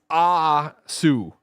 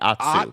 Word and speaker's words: Atsu: Now it's Asu. Asu. Yeah. And that's what, but I just said it the way you want me to say it, Asu. No, with a T. It's still T. Atsu. So Atsu. Atsu. Atsu. You know like a matzo ball?